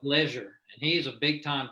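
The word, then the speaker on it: Legere: pronounced Leisure.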